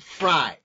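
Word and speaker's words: Frey: What you should do is Google a gentleman named David Fry. David, and Fry is spelled F-R-E-Y.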